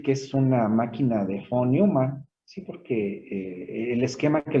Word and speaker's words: von Neumann: Esa vez se pronuncia como F, porque creo que era alemán este señor, como de Volkswagen, ¿no? También es como F. Entonces, que es von Neumann.